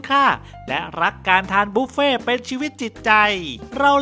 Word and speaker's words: บุฟเฟ่ต์: เป็น การ เลี้ยง แบบ บุฟเฟ่ต์ ออก เสียง ว่า บุฟเฟ่ เป็น คำ มา จาก ภาษา ฝรั่งเศส ว่า Buffet หมาย ถึง การ รับ